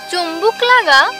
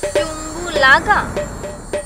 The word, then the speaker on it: চুম্বু লাগা: চুম্বুল আগা? চুম্বু লাগা। চুম্বু লাগা? হ্যাঁ, এইবার ঠিক আছে, চুম্বু লাগা একসাথে হবে।